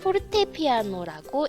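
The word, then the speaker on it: fortepiano: 정답은 FP. 네, 포르테피아노라고 읽으면 되겠습니다.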